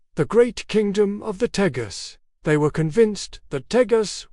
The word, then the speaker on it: Tejas: as they heard it, Tejas. Over time, as language evolved and English influence grew, that J sound, pronounced like an H in Spanish, transformed.